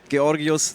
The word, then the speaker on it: Georgios: Yas by the way this is how you say it key Oreos Sahara is from Greece